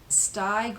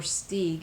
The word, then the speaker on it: Steig: Here is Bill Evans with Jeremy Steig or Steig. It's spelled Steig, a flute player.